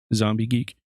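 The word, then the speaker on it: Xombie Geek: It's spelled with an X, so XOMBIEGEEK, Zombie Geek.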